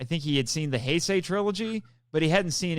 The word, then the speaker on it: Heisei: It's supposed to be pronounced Heisei.